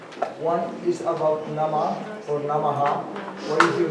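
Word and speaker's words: नमः: If it comes at the end, then the dot underneath the H, it's inflected. So you hear an us sound at the end. So if the nama is at the end of the verse, you'll say namaha. If it's at the beginning, like nama, om, like that, or in the middle, you won't pronounce it.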